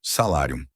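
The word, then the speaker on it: salarium: Salário é uma palavra que vem do latim salárium e se pronuncia como se escreve com u m no final salárium.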